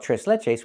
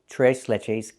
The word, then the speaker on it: tres leches: And we don't call it trese leches. We call it t leches cake.